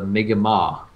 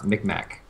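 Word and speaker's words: Mi'kmaq: of ethnic people are the uh the mega ma which most people pronounce mikmak okay that's uh yeah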